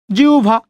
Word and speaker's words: জিহ্বা: ওকে, এখন দেখেন রস্বই বা দীর্ঘের পরে যদি হয় বা যদি থাকে, তখন আমরা এই হয়বর জায়গায় উচ্চারণ করব উভ। কি উচ্চারণ করব? উভ। ওকে, উ এবং ভ। তাহলে জড়স্বকারে জি। ওকে, হয়ব আছে, হয়ব জায়গায় কি দিবেন? উ এবং ভ দিচ্ছেন, উ এবং ভ, জিহ্বা। তাহলে সেম ভাবেই এটাকে আপনি হস দিয়েও লিখতে পারেন, হস না দিয়েও লিখতে পারেন, জিহ্বা।